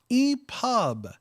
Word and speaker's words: EPUB: No, LBot, EPUB. You pronounced it.